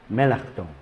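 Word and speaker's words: Melanchthon: por si queréis buscarlo en alemán se pronuncia melon era un fraile agustino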